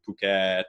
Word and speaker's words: Phuket: went all the way down to Phuket and Koh Samui, but beautiful, beautiful.